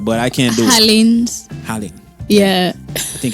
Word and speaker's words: ají de gallina: Or the G is not pronounced like that, but I can't do it. Halin.